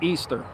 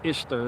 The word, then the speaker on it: Easter: But it's literally pronounced Easter. It's not pronounced Ishtar.